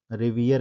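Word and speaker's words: revere: ठीक है, ध्यान रखेंगे इसके प्रोनाउंसिएशन को, क्योंकि ब्रिटिश में इसको हम लोग क्या प्रोनाउंस करेंगे, रिवियर कहेंगे।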